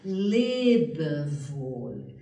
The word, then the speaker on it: Lebewohl: alemão é muito expressiva, porque tem três sílabas que têm uma cadência musical, que é Lebewohl, Lebewohl, adeus.